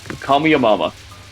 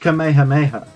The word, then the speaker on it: Kamehameha: But do you know how he pronounces Kamehameha? How? Kamiyamama. Kamiyamama? Yeah. The weird thing is that it's pronounced Kamehameha.